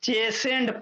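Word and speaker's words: chastened: इसमें T silent होता है। चेसेंड पढ़ेंगे।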